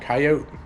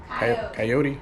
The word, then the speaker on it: coyote: coyote a coyote yeah coyote coyote how do you say it it's both acceptable I don't know internet